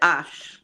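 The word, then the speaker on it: Hermès: You pronounce it Ash, but it's there.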